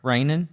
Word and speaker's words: Reijonen: It's been awesome talking to you, Sarah Reijonen. Did I say it right? Yep, you did.